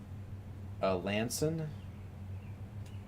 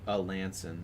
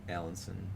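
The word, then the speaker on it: Alanson: Your coverage is by far the best, parentheses, and it's pronounced Lanson. Wait, which sound is that? Oh, a Lanson instead of Allenson.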